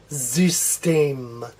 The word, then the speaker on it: System: like a Z so this one's gonna sound like a Z but this the one that ends at the end of a syllable will sound like a regular s so this will still sound like a regular s and as we said this Y is gonna sound like a new amount so this is pronounced sis team zeus team zeus team this